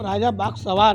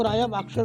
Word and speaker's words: राजा बाग सवार: ये इनकी शेर पे सवारी है, तो इनका महाराष्ट्र में गुलबर्गा में नाम राजा बाग सवार है, पर लोगों ने सही उच्चारण ना करके वो राजा बागशर कर दिया।